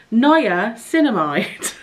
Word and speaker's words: niacinamide: vitamin B3 and niacinamide do you know what I've been calling niacinamide niacinamide for ages and I saw an advert and they said niacinamide and I was like oh I've been saying it wrong the whole time and it's right Naya cinnamide they do a whole